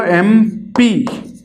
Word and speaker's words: MP: लेकिन जैसे ही हमें MP के साथ लगाना है तो हमने बोला MP। तो आप ध्यान से देखेंगे तो ये किससे शुरू हो रहा है, ए से शुरू हो